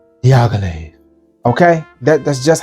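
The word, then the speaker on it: Dior: say it like that you have to say diag Okay that that's just how you have to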